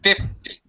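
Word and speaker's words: fifty: Language learners tend to overpronounce 50. No, it's 50. Tit, tit. It's just a tit sound. 50, like that. As opposed to 15, where teen, the second syllable is stressed, it's much higher, and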